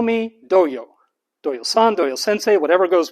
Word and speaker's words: Doyle: a while my name my name is doyle doyo the spelling is d-o-y-l-e some people will try to pronounce my name or doyle honestly i go by doyo so if you call me doyo that's what i'm most familiar with now i know what's